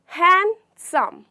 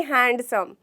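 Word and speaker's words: handsome: नहीं, यहाँ पे हमारा लेटर डी जो कि है वो साइलेंट होता है। तो उसे हमें कैसे बोलना है, हैंडसम, हैंडसम, ना कि हैंडसम। जी नहीं, वो बहुत गलत साउंड करता है, हैंडसम, ठीक है।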